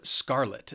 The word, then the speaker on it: scarlet: Then we have scarlet. This word has 2 syllables and the stress is on that first syllable.